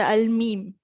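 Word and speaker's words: م: It is pronounced by closing the lips together. That means you just close your lips together. That's all. Okay, but the sound of the letter mim comes through the nasal passage.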